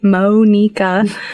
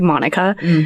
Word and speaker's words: Monika: Um spelled like Monica with a K. Phonetically, Monica. Uh, I have to tell everybody because, you know, it's something I have to hammer into people's heads cuz they always say Monica, which technically isn't wrong either, but you know, right?